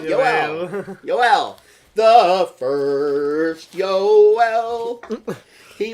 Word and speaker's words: Yoel: so our friends at CNN announced names calm pronounce names calm okay yeah well see I was right yo L the first oh well he wasn't in Spanish